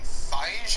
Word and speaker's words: Feige: who else you got we also had kevin feige i'm not quite sure how to pronounce his name oh my god it's feige